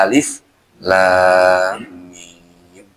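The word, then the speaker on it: الم: Ya, kalau ini juga dibaca alam takutnya ntar. Padahal bacanya alif lam mim.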